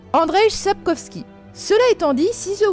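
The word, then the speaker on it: Andrzej Sapkowski: sorceleur écrit par alors attention à la prononciation ça va être du lourd André sepkowski cela étant dit si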